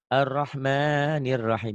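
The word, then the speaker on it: الرحمن الرحيم: Tapi A-nya diganti O. Ar-Rahmanir Rahim. Tuh gitu ya. Tuh. Ar-Rahmanir Rahim. Ar-Rahmanir Rahim. Tuh. A-nya ganti O ya.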